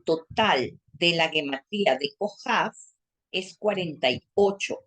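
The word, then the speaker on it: כוכב: Como se pueden dar cuenta, se escribe con Kaf, la Vav, otra Kaf, pero yo le puse Hav y Bet. ¿Por qué le pongo Hav? Porque la Kaf es una letra doble. La Kaf se pronuncia, cuando tiene un puntico adentro, se pronuncia Kaf. Y cuando no tiene el puntico adentro, se pronuncia Hav.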